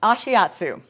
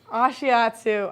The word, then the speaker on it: Ashiatsu: I can't remember how to pronounce it. Ashiatsu. Ashiatsu.